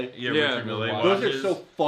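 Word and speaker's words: Richard Mille: those Richard me what is how do you pronounce his name? Richard Millle. Yeah, Richard Mills are so ugly.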